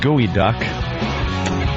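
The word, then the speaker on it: geoduck: up the field eyes hoping Anthony pronounced gooey duck species of largest saltwater clam also known as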